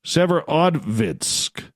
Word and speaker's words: Severodvinsk: I got to pronounce that right. Severodvinsk.